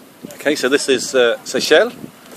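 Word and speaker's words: Seixal: so this is uh Seychelle although it doesn't actually look as though it's pronounced that way when you read it Lisbon over there fantastic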